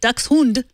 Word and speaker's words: Dachshund: The first part sounds exactly like saying ducks and hund is similar to hood, but with an ND. Hund. So if you say ducks hund, you would come pretty close.